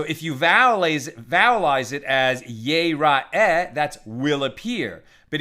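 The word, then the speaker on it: יראה: But if you vowelize it as yir'eh, it's still yud resh aleph he. But if you pronounce it yir'eh, then it means will be seen, right? Or rather, will see.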